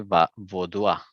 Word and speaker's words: vaudois: En francés se dice vaudois. Por eso acá escribí en corchetes la pronunciación en español. Vaudois se pronuncia eso.